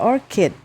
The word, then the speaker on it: orchid: ya anggrek orchit Nah orchit orkid kalau engak Salah bacanya nih ya Anggrek Coba kita bacanya Ya Orchid cara bacanya adalah Orchid Oke kemudian nah Berarti pembelajaran